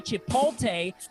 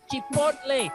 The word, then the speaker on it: Chipotle: And please don't say Chipotle because it's Chipotle. It rhymes like the corn with mayonnaise.